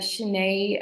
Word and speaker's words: Chane: So it's Chane with the accent on the E, which is always a tricky one, Mm-hmm.